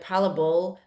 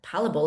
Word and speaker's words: palatable: But to in today's modern society where we are just there's an overload of processed food that are hyper palatable palable is that how you say it?